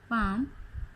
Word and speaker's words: palm: In the first column, letter L is silent. As you can see, arms, L is silent here. Yoke, L is silent. Should, L is silent. Palm, almond and some, ठीक है। इनमें हमारा L silent है।